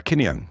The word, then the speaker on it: Kineon: the name of your company how do you pronounce it kinang for it's it's from the the Greek for